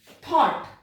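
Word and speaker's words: thought: जब जी के साथ एच आए और उसके पहले किसी वर्ड में जी एच आ रहा है और उसके पहले कोई वाउल साउंड हो, वाउल कितने होते हैं, ए ई आई ओ यू, तो वाउल साउंड हो तो उस जी एच को प्रोनाउंस नहीं किया जाता है। कैसे? थॉट, देखो यहां पर जी एच, कोई जी साउंड आ ही नहीं रही है।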